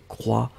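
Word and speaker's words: croient: E-N-T n'est pas prononcé, donc il croit au pluriel.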